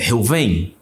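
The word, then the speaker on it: ראובן: Então, pela pronúncia, quando você vai pegar a pronúncia, é Reuven.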